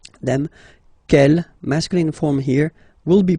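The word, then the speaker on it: quelle: same way and then the feminine form is written like that q l l but it's pronounced like the masculine form Kell at the masculine Kell at the feminine okay so it's basically same pronunciation okay and then here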